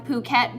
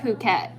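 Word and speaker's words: Phuket: then leaving leaving from puket is it really pronounced B yeah I thought it was so I've been saying because it's spelled pH oh so Americans think it's it's like phen pH phenomenal but if you're Kon that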